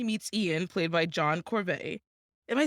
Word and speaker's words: Corbett: But of course, that's when she meets Ian, played by John Corbett.